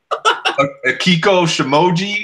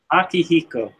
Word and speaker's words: Akihiko: say it for me Kieko emoji is that how you pronounce it Akihiko Akihiko okay so you talk